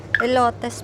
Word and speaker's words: elotes: Elotes pala ang tamang pronunciation diyan.